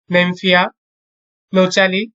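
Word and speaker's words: Nymphaea nouchali: শাপলা, নেমফিয়া, নোচালি, জবার, হিবিস্কাস, রোজা সিনেনসিস।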